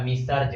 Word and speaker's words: Messrs: तो इसका अगर प्रोनाउंसिएशन हो जाएगा मिसर्ज हो जाएगा, मिसर्ज।